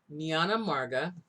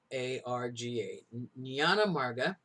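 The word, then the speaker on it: jnana marga: get the second path it's called the niana marga spelled with a j-n-a-n-a-m-a-r-g-a nyana marga and we're talking about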